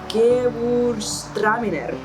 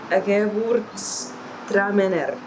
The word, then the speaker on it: Gewürztraminer: Gewürztraminer. Gewürztraminer. Traminer. So where's the stress rate? On the me, I guess.